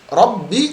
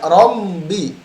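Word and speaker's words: رَبِّ: Kemudian Rabbi tidak rombi. Hati-hati, ada yang sebagian menggabungkan mim dengan ba ya. Rombi. Padahal sama seperti na'budu. Membacanya dari na'budu ya. Ini tidak demikian. Yang benar na'budu. Jelas ya. Rabbi bukan Rabbi. Rom tidak dibarengi dengan hidung ya.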